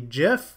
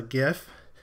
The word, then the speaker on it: GIF: dot, and then can either be a GIF, or if you're on the wrong way of pronouncing things, a GIF.